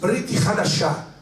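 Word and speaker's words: ברית חדשה: En el Nuevo Testamento, que en hebreo se dice Brit Hadashah. En hebreo, Nuevo Testamento se dice Brit Hadashah. Diga conmigo: Brit Hadashah. Brit Hadashah. Así se dice Nuevo Testamento en hebreo.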